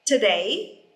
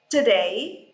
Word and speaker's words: today: I say for example today today but in English you don't pronounce this o and you say today